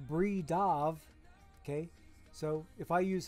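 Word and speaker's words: Bridav: Because I know that B-R-I-D-A-V calls himself Bree Dav, okay.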